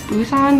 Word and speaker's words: Busan: Busan, yeah, that's how you say it.